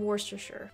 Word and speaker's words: Worcestershire: Apologize for the pronunciations. Don't Talk to Me says, the Worcestershire sauce that you have over here is literally from Worcestershire.